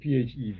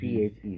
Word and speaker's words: PHEV: Depends what you want to say, but most common one is PHEV. PHEV.